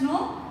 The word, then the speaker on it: know: Like example, see here in homophones like K-N-O-W is also we pronounce it as no, and N-O no also we pronounce it in the same way.